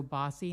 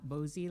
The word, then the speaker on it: Bossi: his name last week I believe it's Ricardo bossi not bozie like I said and um the quote